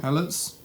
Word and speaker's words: helot: The Imperium constantly acquires new labor helots and organic servitor components. What was that previous word? Did I say that right? Helots?